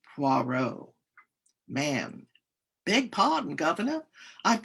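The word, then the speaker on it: Poirot: Poor. Puarro. Puarro. It is pronounced Puarro.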